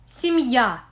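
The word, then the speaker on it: я: and the vowel are this combination is somewhat similar to the beginning of the english word yummy this letter should be pronounced as ya when it occurs at the beginning of a word after a vowel or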